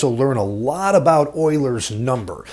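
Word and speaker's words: Euler: neat this is called Oilers theorem everybody wants to pronounce this name uler uh but it's actually Oiler he was a really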